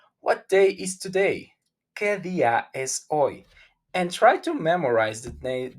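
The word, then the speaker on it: hoy: the sentence like oh is oi oi not hoi oi without any sound the h o s today is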